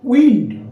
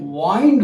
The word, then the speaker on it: wind: দেখো একটা জিনিস খেয়াল করে দেখো, এটা মনে রেখো, WIND, এটা হচ্ছে উইন্ড, বাতাস, নাউন, বাতাস। আর যদি বলো WIND, এর উচ্চারণ যদি ওয়াইন্ড হয়, ওয়াইন্ড, উইন্ড, ওয়াইন্ড, উইন্ড, ওয়াইন্ড বানান একই।